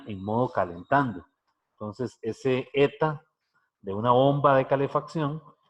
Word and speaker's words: eta: como con un rabito esa letra se pronuncia así eta la jeta y está